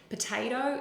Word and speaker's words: potato: Potato is another one. The p is a weak syllable, and the tato, they are more stressed within the word.